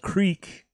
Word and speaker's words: Kriek: first one is from boom island it's called Creek I think that's how you pronounce it yep you were crack yeah Creek